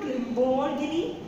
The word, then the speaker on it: Lamborghini: So you can say Lamborghini. Some people say Lamborghini. It is not Lamborghini. It is Lamborghini.